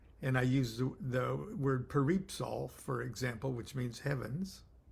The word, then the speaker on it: Peripsol: And I use the word peripsal, for example, which means heavens.